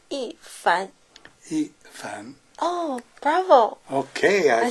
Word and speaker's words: Yifan: Ethan. Wrong. Yeah. Uh, okay. Better. But the correct one is ean.